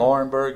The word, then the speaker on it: Laurinburg: Laurinburg, yep.